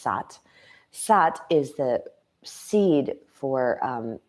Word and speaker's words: Sat: is the sound of it's spelled SAT and it's pronounced saath saath is the seed